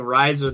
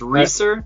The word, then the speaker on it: Reise: perfect also we've been saying your name wrong this entire time uh we've been saying Riser this whole time so it's racer that's how it goes yeah okay a commonly